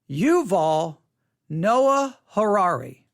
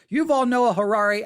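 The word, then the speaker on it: Yuval Noah Harari: Yuval-noah-harrari. Yuval-noah-harrari. Yuval-noah-harrari. Yuval is spelled Y-U-V-A-L. Yuval-Noah, N-O-A-H. Harari, H-A-R-A-R-I.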